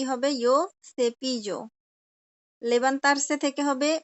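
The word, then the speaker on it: yo: আপনি জো বলেন, সমস্যা নাই, কিন্তু ইউ বলা যাবে না। ইউ না, ইউ হচ্ছে ইংলিশে ইউ মানে তুমি, কিন্তু স্প্যানিশে কোনো ইউ নাই। হ্যাঁ, স্প্যানিশ আছে ইয়ো অথবা জো, দুই ভাবেই বলা যায়।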